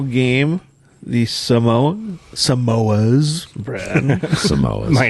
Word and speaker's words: Samoas: are the final game the Samoa Samoas brand Samoas minor technicality Keep this.